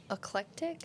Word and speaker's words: Eclectic: But uh Williamson will be heading to Eclectic excuse me Eclectic Alabama for uh for their game with uh Elmore County. That is that is the name of the city. Eclectic.